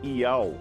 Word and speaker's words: Iau: Nele, o nome de Deus é transliterado pelas letras gregas Iota, Alfa e Ômega, lendo-se Iau.